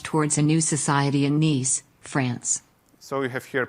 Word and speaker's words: Nice: You have Nice, which is a homograph because it can be also pronounced as nice, because that's a standard English word, and so on, so on.